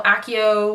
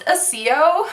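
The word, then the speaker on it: Accio: Akio from Harry Potter the spell you know Akio whatever I still refuse to believe that it's pronounced Akio it's pronounced a CEO it's pronounced a co a co broom a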